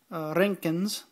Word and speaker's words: Röntgens: And if I switch this to the inappropriate microsieverts, actually, excuse me, this is in Röntgens, roll your R, not much.